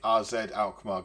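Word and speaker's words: AZ Alkmaar: about we've got the first leg of the rzed alar game I'm told that is the correct way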